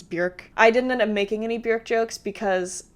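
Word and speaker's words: Björk: like bjork jokes, and yes, you pronounce it bjork. I want to make that very clear. It's bjork. It has umlauts. It's bjork.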